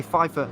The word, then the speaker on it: Pfeiffer: We've been including the P. Forget about it. Apparently, we're supposed to say Pfeiffer.